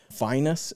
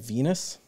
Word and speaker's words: vinous: I think I said Venus. Apparently, that is incorrect.